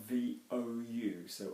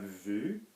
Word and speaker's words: vous: So again, we've got V-O-U, so are we going to have vu or vous? Vous, well done, because vu is seen, yeah, or the view.